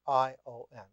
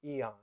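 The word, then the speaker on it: aion: time form was a i o n ion or sometimes mispronounced in English since the 17th century pronounced eon and thus spelled e-o-n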